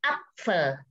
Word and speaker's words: Apfel: yang masih pembelajar awal, pasti agak kesulitan untuk mengucapkan P dan F dalam satu kata dan berempatan lagi. Der Apfel. Der Apfel. Der Apfel. Good. Jadi pertama P-nya juga harus diucapkan dan F juga.